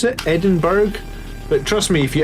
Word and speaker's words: Edinburgh: you say this is edinburgh i don't know why you say borough but that is how you say it edinburgh means that you're a tourist and you are not from scotland edinburgh it's edinburgh no